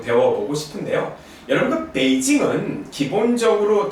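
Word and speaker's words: 北京: 예, 베이징, 예, 베이징. 예, 사실 다시 말씀드리지만 성조는 글자 하나하나 외우는 게 아니고 발음해보고 이렇게 고치기도 합니다. 중국 사람들도 마찬가지예요. 베이징, 예, 삼성 일성이구나 라는 거고요.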